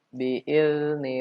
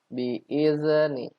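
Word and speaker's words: بإذن: Jadi yang salah rata-rata anak membacanya bi'izni. Iz itu namanya memantul. Iz padahal tidak boleh. Bi'izni.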